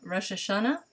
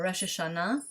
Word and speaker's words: Rosh Hashanah: be with you for arab rosh hashanah or rosh hashanah depending on which syllable you prefer the emphasis that joke doesn't get